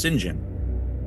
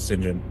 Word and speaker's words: St John: would have been pronounced singen absolutely yeah that that's how the the British would say it right Greg's the expert it's singen hear that Joi um